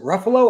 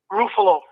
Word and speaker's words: Rufo: How do you say your last name? Is it Ruffalo or Rafolo? Rufo. Okay. Rufo.